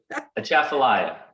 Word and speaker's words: Atchafalaya: to Yes, pronounce yes. that for me again? Atchafalaya.